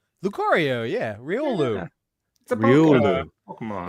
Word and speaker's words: Lucario: say this one uh well it's Riolu and Lucario Lucario yeah rolu a Pokemon it's an evolution starting with Riolu Riolu into Lucario correct yes you are correct do they say their names does he say Lucario as like his not no some I mean